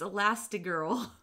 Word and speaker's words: Elastigirl: that girl Google search made me realize it's spelt a last like a last two girls and I I thought it was a last girl with an A last day it's elastic girl okay is that okay